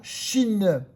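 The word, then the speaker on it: שׁ: à droite la lettre se prononcera Chine comme le pays la Chine c'est ch d'accord et lorsque le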